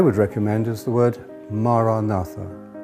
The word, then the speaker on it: Maranatha: If you choose that word, say it as 4 syllables, Ma-ra-na-tha.